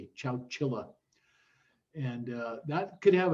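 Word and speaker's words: Chowchilla: david said he toured that's ciao chile they never did spell it right on the captioning on youtube but it's c-h-o-w-c-h-i-l-a chow chilla and uh that could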